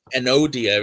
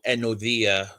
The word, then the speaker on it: Enodia: work on pronunciations um an odia is actually pronounced more like anodia because the the d that we see is a the sound and so enodia rather than anodia is more accurate.